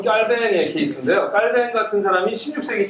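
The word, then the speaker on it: Calvin: 존 깔뱅은 여러분 우리 옛날에 공부한 분은 존 켈빈이죠. 근데 우리가 저 모든 언어들을 전부 다 미국식으로 발음하기 때문에 불어는 깔뱅 이렇게 읽어야지 옳죠, 그죠? 그래서 우리 존 깔뱅 이렇게 읽어야 되는데 사실 우리가 미국적인 영향을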